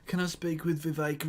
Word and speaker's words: Vivek: Oh, imagine how sad you'd have to be to like, can I speak with Vivek Ramaswamy, who rhymes with K. Ramaswamy and Jack Posobiec and Elon Musk, please?